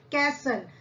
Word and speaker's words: castle: The second one is castle, यानी राजा रानी का महल, castle, CASTLE. हम यहाँ पे टी को क्या पढ़ेंगे, साइलेंट. मैजिक यानी जादू, है ना, आपको मैजिक पसंद है.